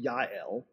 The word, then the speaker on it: Jael: woman whose name is spelled Jael, J-A-E-L, but it is pronounced Yael.